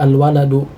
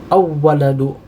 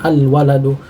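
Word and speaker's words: الولد: Jadi kita baca al-waladu, jangan awwaladu, salah itu, ya. Tetapi yang benar kita mengucapkan dengan al-waladu. Kemudian at-tufah, at-tufah adalah alif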